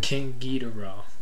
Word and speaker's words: King Geedorah: King Geedorah.